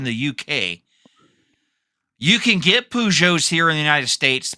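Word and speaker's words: Peugeot: Uh, that's not how that's that's that's not how you that's not how you pronounce it. Pujo.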